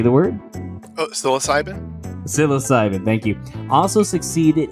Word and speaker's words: psilocybin: quit entirely in the most rigorous tests of sil silicibin for alcoholism how do you pronounce that oh psilocybin psilocybin love it it's way better than what i